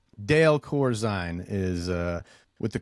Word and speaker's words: Corzine: Italian and German so I think the Corine that that's Italian which probably is pronounced cor Italian okay uh but we we roll with it with the long eye with Corine Corine something like that Dale Corine is uh